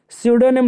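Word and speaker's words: pseudonym: तो यहाँ पर लिखा है दोस्त क्या, स्यूडोनिम लिखा है, स्यूडोनिम लिखा है, यहाँ पर पी साइलेंट है।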